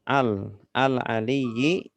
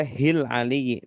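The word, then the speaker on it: العليّ: Kalau ada al bacanya al aja gitu. Alif lam berarti bacanya al aliyyi. Nah, tidak boleh hil aliyyi, tidak usah hil aliyyi, langsung al aja.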